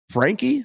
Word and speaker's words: Franke: Head golf professional, Frankie. I believe we pronounced the E is kind of what I'm understanding.